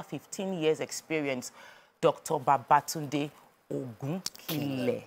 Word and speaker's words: Ogunkunle: Babatunde Ogunkunle. Yes. Pronounced correctly. Ogunkunle.